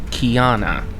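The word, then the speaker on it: Kyana: of their empire the proper term the proper pronunciation is kiana as said in year of hell parts one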